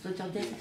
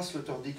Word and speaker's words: Sloterdijk: Alors je confirme que c'est pas Sloterdijk en anglais, en hollandais, parce que j'ai un élève d'origine néerlandaise, Oui. dont le nom est Herwijnen. Et ça s'écrit IJ comme Sloterdijk.